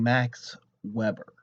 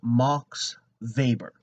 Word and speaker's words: Max Weber: they end up saying Max Weber. Mispronunciation clues you in immediately to someone who's a theoretical novice. It's pronounced Max Weber. All right. So, um, he's German, not a grill.